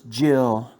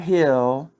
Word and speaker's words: Jill: am the president's wife my name is jill not hill like you would probably